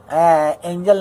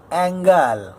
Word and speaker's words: angle: एंजल नहीं होता है वो साला, प्रोनाउंसिएशन उसका होता है ANGLE, एंगल। अरे भाई एंजल अलग होता है, एंगल अलग होता है।